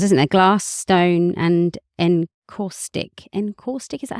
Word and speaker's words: Encaustic: Glass, stone and encaustic.